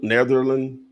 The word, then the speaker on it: Netherland: Yeah, 225 Netherland Drive, like the Netherlands, without the S.